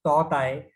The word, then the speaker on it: Tauktae: The Toktai is pronounced as Totai, and in Burmese language, it means Gecko, highly vocal lizard.